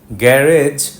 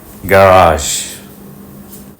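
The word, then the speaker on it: garage: word is little গাজ second syllable stress syllable is long and first syllable is short and unstress গ্যারেজ বাংলায় বলতে পারেন কিন্তু ইংরেজিতে বলা যাবে না ইংরেজিতে গ্যারাস অনেক শব্দের শেষেই টি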